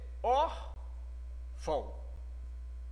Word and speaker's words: órfão: Esse A e esse O estão sendo pronunciados no mesmo instante. Órfão. Observe que esse A tem um som mais forte do que o O na pronúncia. Órfão. O O quase que some. Ele tem quase a pronúncia de U.